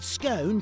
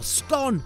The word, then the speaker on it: scone: It's usually thought that scone, to rhyme with bone, is for posh people, while scone, as in gone, is for commoners.